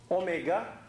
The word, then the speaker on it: omega: and unit of this omega is pronounced omega not w okay what is its